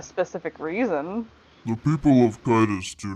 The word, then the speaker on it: Kitus: It's Kitus.